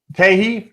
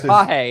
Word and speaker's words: Tahi: So, uh Teahi for jungle or Tay, I guess. Tahi. It's Tahi. It's Tahi. Wow. That is the last way that I thought they were going to pronounce that.